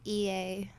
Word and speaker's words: Eyit: doing saying they're wrong um my name is ea that's how you say it okay there you go now you know how you pronounce the name because they might have seen